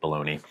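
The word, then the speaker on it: bologna: a lot of salty bolognia bolognia baloney I don't understand why Americans pronounce that that way baloney which was also pan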